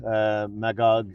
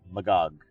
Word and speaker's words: Magog: In French, we pronounce Magog similar to the way you say Milady, Magog.